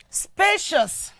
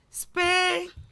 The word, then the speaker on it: spacious: We also move to the word spacious. Spacious. Spacious is actually an adjective. That is why it is the first syllable, spa, that is what? That is stress.